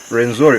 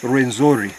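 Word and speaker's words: Rwenzori: after their queen Margarita, they couldn't pronounce Renjura. So they called it Renzori.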